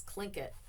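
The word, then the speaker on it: Tlingit: the clink it people it's clink it people but it's spelled t l i n g t um and there's I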